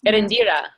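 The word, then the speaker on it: Eréndira: How do you pronounce that? Let's see. Okay. It is Erindira.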